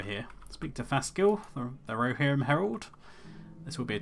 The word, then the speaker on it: Rohirrim: And yes, you get some weird pronunciations like Rohirrim. It's Rohirrim.